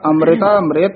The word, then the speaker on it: अमृता मृत: इथे टिप्पी नहीं है, इथे उच्चारण होगा अमृता मृत है।